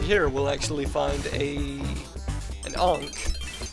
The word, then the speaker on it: Ankh: But if we continue jumping here, we'll actually find an Ankh. Or an Unk, as I think it's actually pronounced. But I've always said Ankh, because that's how it should be.